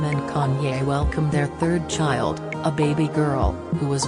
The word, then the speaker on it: Chi: refer to chicago as chi pronounced as shy for short some west the last